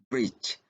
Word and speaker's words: bridge: Kemudian bridge, ya bukan bridge, ya. Jadi remember there is no D sounds there.